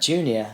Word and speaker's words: JEWKNEEOR: Jew, a follower of the Jewish religion. Knee, bend in your leg.